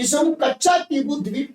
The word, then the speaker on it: कच्चातीवु: टीबू द्वीप कहते हैं, जिसको प्रधानमंत्री कच्छ द्वीप कर रहे थे, लेकिन कच्चा टीबू इसका ओरिजिनल आपका प्रोनाउंसिएशन है।